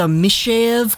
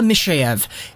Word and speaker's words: Mikheyev: So it's kind of like a Mikheyev kind of sound. To me, it kind of feels like the K actually translates to an S sound.